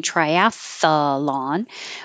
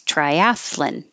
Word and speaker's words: triathlon: broccoli and this word I found out I have been pronouncing wrong my whole life because I've been adding an extra syllable and saying Triathlon but it's Triathlon I had to look it up I had no idea triathlon raspberry that s